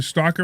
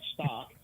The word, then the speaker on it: stalk: There's an L in there. Stalk. It's not stock. Stock is stock, and stalk is stalk.